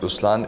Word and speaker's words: Ruslaan: so even in raslan when you say raslan also means the line it's the attitude of am but the right pronunciation is rlan okay there is so